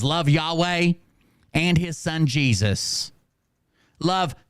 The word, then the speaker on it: Yahweh: even saying it WR it's Yahweh it sounds like you're exhausted running from someone and from a monster and you're trying to to describe the hallway okay that's how you say it when his son Jesus